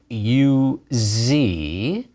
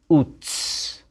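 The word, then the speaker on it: עוץ: as a z but in hebrew it's ts like the z in pizza so when you read at the beginning of the book of job that there was once a man in the land of you z in hebrew the name of that land was utz ayin vav marking the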